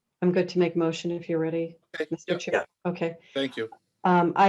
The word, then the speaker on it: Read: r-e-e-e-e and you have r-e-a-d correct yep it's uh it's how it's spelled on the screen it's read like read a book okay so we will